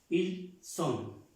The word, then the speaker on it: ils sont: Ils sont. La S se pronuncia como la S en español.